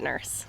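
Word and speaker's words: Nourse: ever meet Tim Nurse, he pronounces his name without the O, because his family moved to Westboro to flee after all of the Salem witch trials went down. So they're direct descendants of Rebecca Nurse. They added an O to their name, and they'll never find us now. But they still pronounce it Nurse.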